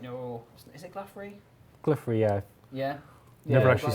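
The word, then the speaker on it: Glouphrie: makes sense before you've completed Grand Tree because Gluffrey is kind of like your Is it Gluffrey? Glypher.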